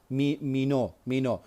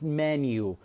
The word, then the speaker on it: menu: Most of the Kurdish people like call it mino, but it's not mino, it's menu.